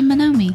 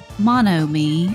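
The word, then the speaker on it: Monomi: I always want to say manomi I don't know mono me and I should know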